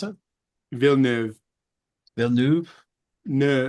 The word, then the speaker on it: Villeneuve: How do you pronounce it? Villeneuve.